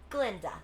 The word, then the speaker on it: Glinda: And you must be Glinda. The guy is silent.